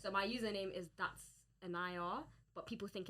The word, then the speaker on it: Enaya: Alright, Carl, so how do you say your name properly for this? Enaya. Enaya, sorry.